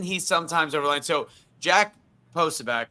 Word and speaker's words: Posobiec: Yes, thank you, Posobiec.